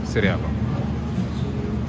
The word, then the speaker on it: Cirillo: Let's see, they got fine Italian products from Cerillo. Is it Cerillo or Cirillo? Cirillo.